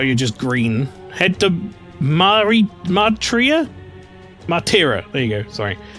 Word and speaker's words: Martira: I think the Tira is pronounced like tiramisu. Did I not do that?